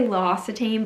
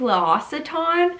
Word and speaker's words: L'Occitane: I always used to say L'Occitane, but that's wrong. I think it's L'Occitane, something like that.